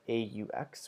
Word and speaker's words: aux: Finally, with plural countries, we use AUX, which is pronounced as O, but when it comes before a vowel, you make the Z sound.